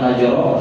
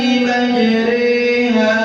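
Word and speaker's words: مجريها: Wa perhatikan pada kata majri, di situ ditulis dengan kata imalah. Nah, ini dibacanya bukan majro tapi jadi Wajib. Dan ini cuma satu di riwayat Hafiz An-Nasir di surat Hud ayat 41. Saya ulang dari Bismillah. Perhatikan. Bismillahi majriha wa mursaha. Coba. Bismillahi majriha wa mursaha. Oke, jadi bacanya jangan dibaca taklil. Taklil itu jadi ru. Majruha itu salah. Tapi majri ya.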